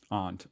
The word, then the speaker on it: aunt: So, and like it goes, Americans say it both ways, but I've always said it aunt, like your aunt and uncle. But there are some aunt. People in America who pronounce it aunt. Here in Australia, everyone pronounces it, or at least everyone I've met has pronounced it aunt, which honestly kind of